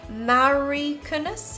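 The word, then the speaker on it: Mauri Kunnas: Which in it says, this card is drawn by Mari Kunas, is that how you say it?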